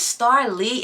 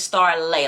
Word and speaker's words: Star Lee: It's pronounced Star Lay. If you didn't know, if you're new here, you not you don't know my name. But, it's Star Lay, like you lay down. But, it is spelled Lee.